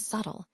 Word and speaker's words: subtle: Similarly, in B and subtle, the B is silent.